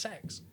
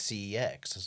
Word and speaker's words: CeX: So it's called it's called but it's pronounced sex really because they they they um did some of their marketing I think they put like we love sex.